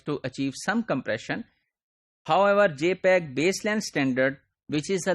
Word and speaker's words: JPEG: we use we use jpeg jpeg this is pronounced as jpeg and this is standard developed by joint photographic